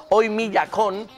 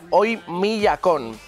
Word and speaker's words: Oymyakon: Siberia y se llama Oymyakon, que ya he conseguido pronunciarlo bien, porque la pasada semana me salía Oymyakon, que me salía un poco regularcillo.